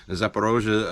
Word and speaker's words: Zaporozhye: And Zaporozhye, okay, for these people who can't quite pronounce it, Zaporozhye, and then on to Poland, yeah.